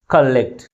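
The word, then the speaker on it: collect: దీంట్లో two syllables ఉన్నాయి ఏ syllable ఎక్కువ force పలుతుంది second syllable first syllable కంటే ఎక్కువ ఫోర్స్ గా పలుకుతుంది దీన్ని ఎలా ఆర్టికులైజ్ చేస్తాం కలెక్ట్ అంటే సెకండ్ సిలబుల్ ఫస్ట్ సిలబల్ కంటే ఎక్కువ ఫోర్స్ ఇవ్వబుతుంది కాబట్టి మనము స్ట్రెస్ మార్క్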